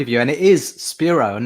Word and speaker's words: Spiro: authors spiro who i like to call spiro because i'm greek welcome to the show thank you sophie very kind of you and it is spiro and not spyro i i think it's talk